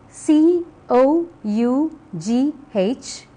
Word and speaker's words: cough: is pronounced e elephant look at the next pair of words c o u g h and b o u g h the first one is pronounced cough while the second one is